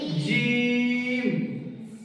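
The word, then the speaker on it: جيم: জিমের ক্ষেত্রে তিন আলিফ পরিমাণ টান হবে। কত রকম? তিন আলিফ। কত রকম? তিন আলিফ। তাহলে কেমন উচ্চারণ হবে? জিম। বলো জিম।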